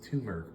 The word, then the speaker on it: turmeric: And then we're making this the United Nations by, I always pronounce it wrong. My mom always corrects me. It's turmeric powder. Turmeric powder. I say turmeric. Turmeric. Turmeric. You go. There's no R before the M.